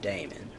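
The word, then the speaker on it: daimon: Socrates had a Damon and that Damon, not pronounced demon but Damon.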